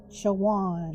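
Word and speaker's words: Chowan: C h o w an chawan. Chawan.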